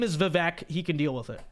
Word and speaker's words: Vivek: his behalf no not happening his name is vivec he can deal with it okay you can